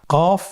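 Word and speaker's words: ق: কফ উচ্চারণের ক্ষেত্রে একটু মোটা করে উচ্চারণ করতে হবে।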